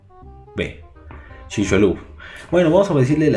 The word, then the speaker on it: Chicxulub: Chicxulub, no sé si es una C, una H, bueno, es Chixulub. Chicxulub.